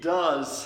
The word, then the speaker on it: does: an S it's ghost this word is do but when we add the S it becomes does does he does she